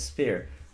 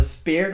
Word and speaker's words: sphere: You know, the circle thing is sphere. Not a spear which you stab, but a sphere.